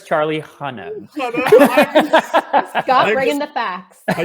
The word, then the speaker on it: Charlie Hunnam: And I'm pretty sure it's Charlie Hunnam. Scott bringing the facts. I just want to be so extra with my pronunciations today.